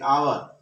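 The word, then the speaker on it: hour: আমরা যখন উচ্চারণ করছি প্রনাউন্সিয়েশনের বেলা কিন্তু দেখো তোমার এইচটা আসছে না, এইচ বাদ দিয়ে আমরা ও থেকে উচ্চারণ করছি আওয়ার।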